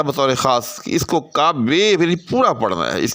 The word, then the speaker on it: کعبے: ہے، تو آپ نے اس کو کعبے کا منظر اس طرح سے بے کو لمبا کر کے پڑھنا ہے، یعنی فعل کے